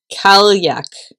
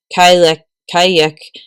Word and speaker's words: Cailleach: Cailleach.